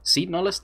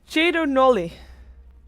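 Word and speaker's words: Cedo Nulli: And, I mean, I said it before, Seed Nullis, they play very comfortable style. They pick up the Shadow Fiend again. By the way, apparently we're supposed to be pronouncing Seed Nullis as Chedo Nolly.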